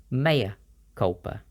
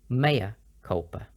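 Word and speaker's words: mea culpa: or admission of guilt it's pronounced with the m e the same as May so it's Maya Culper Maya culpa some examples why did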